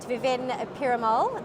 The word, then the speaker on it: Viven Perumal: and over here with us today we've got Vivint pyramol the marketing manager of conlog I hope I pronounced your name correctly that's correct thank you